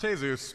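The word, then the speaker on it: Jesús: Isn't that right, Jesus? It's pronounced Jesus, and I don't know you.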